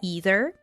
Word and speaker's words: either: First of all, it has double pronunciation, like both pronunciation are correct. You can say either or you can say either. I believe American way is either, right? Either would be more British.